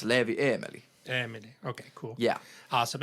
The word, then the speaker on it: Leevieemeli: okay and then what's your artist name it's leevy Emily Emily okay cool yeah awesome and we also